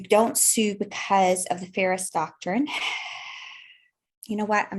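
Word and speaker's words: Feres: The other thing is the Ferris Doctrine. It's spelled F-E-R-E-S, and that was a case law from 1950.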